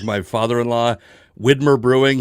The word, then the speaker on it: Widmer: Like my father-in-law, Widmer Brewing, he grew up with Widmer Brewing. He's never going to stop calling it Windermere.